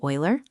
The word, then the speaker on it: Euler: A mathematician named Leonhard Euler, pronounced Euler, discovered that for any solid 3D shape, the number of faces plus vertices minus edges always equals two.